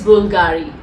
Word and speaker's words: Bvlgari: It is Bulgari. Yeah, it's Bvlgari, but I think here B is really not said loud, so it's B is silent.